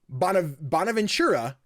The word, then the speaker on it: Bonaventura: talks to star in and produce with Lorenzo Bonaventura.